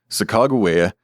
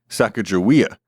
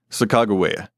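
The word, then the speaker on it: Sacagawea: consistent in indicating that the third syllable is always pronounced with a hard G. This is one of several reasons for the current preference among nearly all historian scholars for the spelling sakagua as opposed to the more popularized sakawia.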